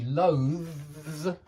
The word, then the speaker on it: loathes: He is loath to admit that he loathes. Yeah, that's like clothes. It's exactly the same. It's that hard voiced TH and then a Z.